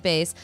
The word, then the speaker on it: Beis: let me just say bass is spelled be i s but it sounds like Bas okay get sophisticated go